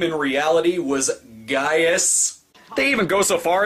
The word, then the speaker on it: Gaius: footage for the film the actors correctly pronounce it as Gaius as in this pre